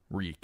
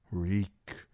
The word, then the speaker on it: Reek: "Reek, I'm Reek. It rhymes with squeak."